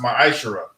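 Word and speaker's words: מעשר: 3 8-10 means 10th means 10th in hebrew and is pronounced my shara 10 percent of every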